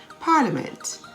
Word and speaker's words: parliament: some silent i words how about business b-u-s-i-n-e-s-s parliament p-a-r-l-i-a-m-e-n-t silent k words such as nak k-n-a-c-k